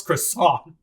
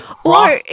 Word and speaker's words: croissant: scene what can he what French word can he not say croissant I'm sorry even a dumb American knows how to pronounce croissant he says Cross or he would not say it the way that he did it initially he said it in such a weird way it was like Cross or something it was so bizarre